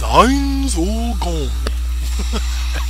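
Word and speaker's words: Ainz Ooal Gown: that I am doing, as he pronounces his name in the anime, his name is Heinz Ulgon. That's how he says it.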